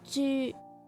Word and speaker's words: 猪: YU similar to the U in the menu. It's a U sound. This is a true U. And the example here is 猪.